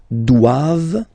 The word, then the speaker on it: doivent: All right, and then the last one, ils doivent. So same thing, classic ending for the plural form, ENT here, okay, but then you don't pronounce it.